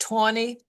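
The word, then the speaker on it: Taney: And so Tony was his his name, by the way, is pronounced even though it looks like Teny, it's officially pronounced Tony.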